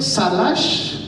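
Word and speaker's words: סלח: En hebreo se escribe salash, así como ensalada o algo así, salash, y significa dejar ir.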